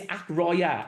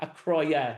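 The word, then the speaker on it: Acroyear: We looked this up earlier the other day and it's Acroya. Aroya it says in Mike Pron issue six it's Acroya. Acroya is how you pronounce it.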